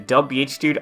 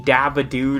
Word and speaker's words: Dabhdude: Just call me Dabhdude or Dabhdude or whatever. I mean, yeah, the shortened version is supposed to be Dub, not Dab, because, wow, it's almost like this was made before the Dab was a thing.